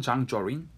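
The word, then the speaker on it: 張作霖: 당시 조선총독부 경무총감, 경무국장이었던 미스야와 당시 만주 지역을 다스리고 있던 봉천군벌의 그 수장이었던 장장님, 중국 발음은 장쩌린, 이 두 사람 간의 협정이 맺어집니다.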